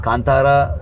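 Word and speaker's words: ಕಾಂತಾರ: हिंदी वाली पब्लिक बहुत कंटारा कंटारा बोल रही है। हाँ हाँ हाँ। तो ये तो एक्सेंट और उनका मतलब वो होता है ना, क्या करते हैं। हाँ कंतारा कन्नड़ा में ठीक से हम लोग प्रोनाउंस करते हैं।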